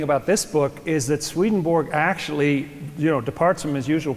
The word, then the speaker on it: Swedenborg: Your name is Swedenborg? Or you're an alien too? It's pronounced Swedenborg in Swedish.